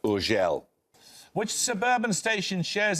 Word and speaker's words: Urgell: It's usually pronounced Urgell.